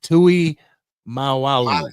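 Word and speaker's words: Tuimoloau: How do you say that? Tui Malalu. There you go. Malu. That's how you say it.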